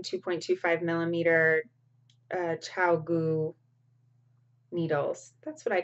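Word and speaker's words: ChiaoGoo: I'm not sure if Chow Gu is how you actually pronounce it, but it might be Chia Gu because it's C-H-I-A-G-O-O. So it could be Chia Gu, like Chia Pet.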